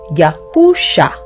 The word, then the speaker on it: Yahusha: So, the complete name of the Messiah translates to the English letters YHUSHA and is pronounced Yahusha.